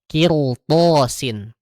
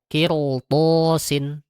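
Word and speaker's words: قِرْطَاسٍ: Kirthosin. Kirtoh bukan kirto bukan kirto tapi kirth sin. Kirth. Kirthosin. Nah itu ya itu untuk huruf-huruf yang dia bebal daripada huruf ro.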